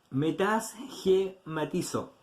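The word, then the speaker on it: μετασχηματίζω: Disfrazar es una palabra griega, que significa, o que se escribe, metasgematizo.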